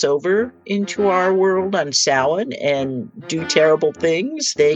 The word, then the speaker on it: Samhain: Celtic holiday called Samhain, which looks, by the way, like it should be pronounced Samhain. And that's why there are so many horror movies and stories that have characters named Sam Hain in them. It is spelled Samhain, but pronounced Samhain.